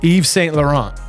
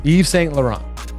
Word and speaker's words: Yves Saint Laurent: ready that's what now the way this is spelled is yiver's Saint Laurent though but I think it's pronounced Yves Saint Laurent I think it's how it's pronounced Yves Saint Laurent I think some people